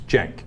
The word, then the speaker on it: Cenk: The C is pronounced like a J, Pastor Manning. It's Cenk.